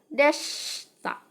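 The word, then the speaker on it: でした: misal D sikap Desita kalau kita tulis dalam huruf Hiragana Desita seperti ini ya tapi dalam pengucapannya dalam pengaplikasian omongannya ini ingat kita tidak baca teman-teman maka Desita ini akan dibaca Desta Desta ini hilang itu ya Nah kemudian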